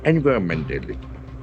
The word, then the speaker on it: environmental: So there are basically 4 syllables. So Environmental. the accent falls in the last syllable.